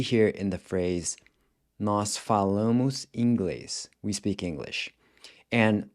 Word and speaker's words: falam: So they speak would be eles or elas falam. Now here, you're replacing the AR with an AM, except that the AM is pronounced with this nasal sound. Falam.